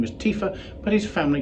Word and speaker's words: Tiwha: pits 2019 ponir this is referred to as Tifa evidently the name is more correctly pronounced Tifa but it's a wine that's been named in honor of the proprietor's father whose name was Tifa but his family called him Tifa and that's